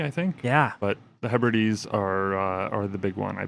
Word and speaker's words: Hebrides: But the howler of the week last week was 2 weeks ago was Adrian's pronunciation of the Scottish Hebrides archipelago as Hebrides instead of Hebrides.